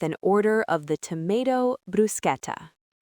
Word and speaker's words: bruschetta: The trap here is the ch combination. In English, ch usually makes a ch sound like in chair or cheese. So, English speakers want to say bruschetta. But in Italian, when ch comes before an e or i, it makes a hard k sound, a c sound.